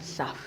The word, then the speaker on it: Saph: Mais non, Mère Saf. Mère Saf. Saf, là, d'abord, ça s'écrit comment?